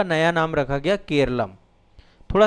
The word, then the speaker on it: केरलम: है ठीक है लेकिन जब आधिकारिक दस्तावेज आए अंग्रेजी में केरल लिखा गया इसको इंग्लिश में केरल लिखा गया और जब इंग्लिश में केरल लिखा गया तो फिर इसका मूल उच्चारण ही बन गया केरल एक्चुअल में मलयालम में केरलम कहा गया इसको।